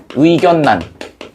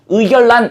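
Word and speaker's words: 의견란: 원래는 어떻게 발음하고 싶은데? 의결란 이렇게 하고 싶은데 얘네둘이 뭐와 뭐 플러스 뭐예요? 한자어 플러스 뭐야? 한자어지. 한자어 플러스 한자어야. 그래서 얘는 유마가 적용되지 않고 최종적으로는 뭘로 발음돼?의 의 견난 이렇게 발음된다.요 얘기야.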